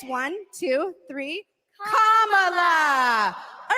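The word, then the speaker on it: Kamala: do you pronounce it first you say comma like a comma in a sentence then you say la like la la la la la put it together and it's one two three commala all right so let's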